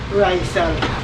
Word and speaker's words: Raizal: It's pronounced Raizal? Raizal.